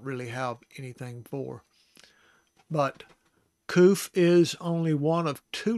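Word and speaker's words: קוף: So it is koof, koof.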